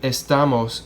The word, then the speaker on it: estamos: Notice how with estamos, we don't have an accent mark, a written accent mark here. That's because this is a 3-syllable word.